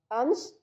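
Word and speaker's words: अंस: अगला शब्द है अंश, यानी कि कंधा, जिसमें लगा हुआ है कौन सा? स, सड़क वाला स, जिसे हम दंते स बोलते हैं। उच्चारण की दृष्टि से कौन सा है? दंते स है, ठीक है।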